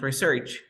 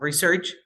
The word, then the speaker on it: research: Luego tenemos research, que es investigar. Research como verbo y research es investigación.